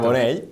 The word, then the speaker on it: Carbonell: Siempre pronuncio mal Carbonell. Con dos L's, exactamente, exacto. Carbonell, pero muy bien, claro, encantado de estar con vosotros.